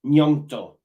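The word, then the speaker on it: Gnonto: the same so for me it's myeongdo it's pronounced nyanto you spell it the same I've got it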